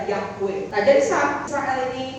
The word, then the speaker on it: Yahweh: Aku adalah aku, bahasa Ibrani itu ya YHWH, pembacanya adalah Yahweh.